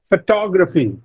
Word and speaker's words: photography: Photography. Now, this is a 4-syllable word, and the second syllable receives the stress, to.